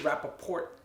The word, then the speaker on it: Rapaport: or for some reason the T gets ignored I like the hard T Rapoport it's like it's like a good enough good good finisher to the name so that's probably only